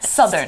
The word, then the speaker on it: southern: Southern. Southern. Actually, be careful with your pronunciation because Southern. it's south, but it's southern. 所以它的 the 不是 Southern，要 Southern. Yeah, southern.